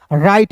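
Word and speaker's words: write: तो दोस्त देखिए डब्ल्यू के बाद आर आया तो इसे पढ़ेंगे तो डब्ल्यू को साइलेंट करेंगे। आर का र आई टी ई का उच्चारण आई के रूप में करेंगे। हो जाएगा राइट मींस होता है दोस्तों लिखना।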